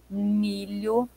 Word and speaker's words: milho: Olha o som do le, lho, milho, chapéu.